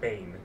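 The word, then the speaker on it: Bain: think uh I think B sun is pronounced Bane Bane I think be a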